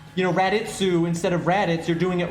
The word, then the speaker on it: Raditz: right you're not pronouncing raditz wrong if you pronounce it raditz but you're not that's just that's that's the english pronunciation right where if you happen to be japanese you're probably going to pronounce it redditsu right that's just how